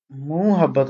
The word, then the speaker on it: محبت: دوست نہ ہونا۔ نمبر 11 صرف تلفظ کی نشاندہی کیجیے، درست تلفظ کی نشاندہی کیجیے۔ محبت، محبت نہیں ہوتا، ہم تو محبت پڑھتے ہیں نا، لیکن یہ محبت ہے، محبت۔ 12 درست اعراب